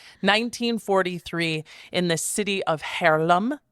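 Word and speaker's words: Haarlem: a spring day 1943 in the city of harlam it's spelled like Harlem but with two A's uh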